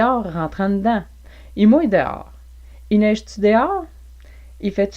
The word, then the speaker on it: dehors: des hommes rentrent dedans prononciation de d'or en français québécois d or dehors on entend même parfois dior ou dos à dos voir que je n'utilise pas moi-même j'utilise d or ou d'or par exemple reste posée en